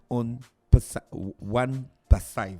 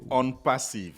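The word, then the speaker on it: OnePassive: Ils viennent nous présenter la compagnie One Passive. C'est ça, monsieur Fernand, j'ai bien prononcé? Bonjour. Bonjour. Pas parfaitement, c'est on passive. Oh, On Passive. Ok, d'accord, voilà. Parce que c'est en anglais.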